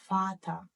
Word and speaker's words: Vater: It will be pronounced as Vater. Vater, that means father. And this letter will be read as F.